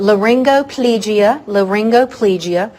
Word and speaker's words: laryngoplegia: So laryngoplegia. You could also say laryngoplegia. So find the one that works for you. Either one of those is acceptable. I tend toward the laryngo when I pronounce it.